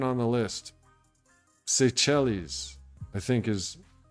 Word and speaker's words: Seychelles: Number 7 on the list, Seychelles, I think is how you pronounce that.